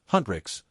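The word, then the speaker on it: HUNTR/X: on a fictional K-pop girl group, Hu NR/X, pronounced Huntrixs, who lead double lives as demon hunters, and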